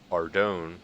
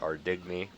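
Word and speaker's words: Ardougne: That'll probably be within Ardone or Ardigny, however you pronounce it. I know people pronounce it two different ways, but that will probably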